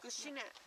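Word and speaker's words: Hágoónee': Gushi-ne. Gushi-na.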